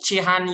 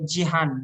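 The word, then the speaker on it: Cihan: just now from Iraq so not chihan University but Jihan G Jihan Jian Jan I'm so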